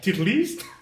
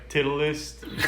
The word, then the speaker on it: Titleist: titleist. Like you said, titleist, but it's titleist.